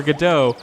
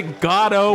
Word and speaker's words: Godot: most likely pronounced with not with the inflection on either the first or the second syllable but with the inflection on both syllables godo which is fine